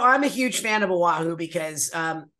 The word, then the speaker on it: Oahu: Oahu? Oahu. That's how you say it.